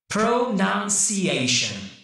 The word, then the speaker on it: pronunciation: Because I went pretty slow, I overemphasized the first syllable, pronunciation. Whereas I need to put a little less emphasis, of course, on the first vowel.